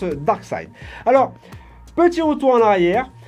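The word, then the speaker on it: Darkseid: et deux parades et nom de dark side qui se prononce barque side alors petit retour en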